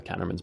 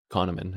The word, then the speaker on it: Kahneman: sure it's in Daniel caterman's book Daniel Kahneman Kahneman is how you say it and I finally learned